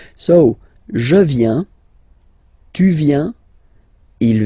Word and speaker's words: viens: Remember this I, viens, viens, and then this nasal, final S not pronounced. Je viens.